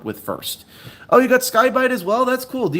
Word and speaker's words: Sky-Byte: It's Skybite.